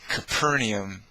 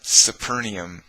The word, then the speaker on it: Capernaum: you know it's it's it's capernaum not supernium it's coffee not sofi